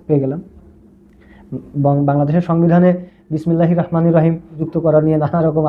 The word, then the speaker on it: রহমানির রাহিম: এটার শুদ্ধ উচ্চারণ হচ্ছে রহমানির রাহিম। কেন? এর কারণ হচ্ছে আরবিতে যে র বর্ণটি আছে র। এই র বর্ণটির উপরে যদি জবর থাকে কখনো কখনো এই জবরটি র উচ্চারিত হয়।